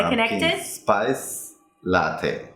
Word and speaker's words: latte: So it's not latte, but Latte. That would be like what kind of? Is that as in is father. That, father. Okay. right? As in Latte. father. And not te, but te. Take. Oh, really? Right. There are never words that end with Latte. a in English. So it's probably going to be a long A sound.